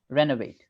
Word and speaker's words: renovate: because we are stressing Ren o becomes a that is important renovate renovate yeah renovate correct yeah so as long as you say that proper o it sounds U well it is an incorrect pronunciation and at the same time it doesn't uh permit you to stress the word correctly stress the right syllable so automatically because o is unstressed it becomes a right renovate renovate my house